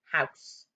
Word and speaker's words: house: going to be a house is a bit tricky because it's got an e on the end but it's a silent